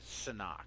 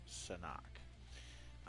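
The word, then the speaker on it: Sanhok: um yeah like you know because it's sand sonak that's how it's pronounced finally heard that today it's sonak um they overhaul the map like it looks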